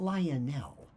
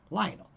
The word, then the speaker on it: Lionel: Not Lionel. I don't know where that comes from. Lionel. Rhymes with vinyl.